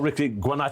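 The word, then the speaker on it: Ricci Guarnaccio: BL ERS at the bar and I'm joined by Jordi Shaw star Ricky guano have I said that right is that Italian yeah it is Italian pronunciation was was pretty much perfect yeah yeah well there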